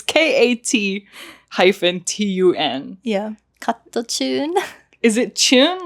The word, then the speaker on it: KAT-TUN: I don't listen to Cattoon. Yeah, I'm so sorry. I don't know the correct pronunciation. I read it as Cattoon. Yeah. It's KAT-TUN.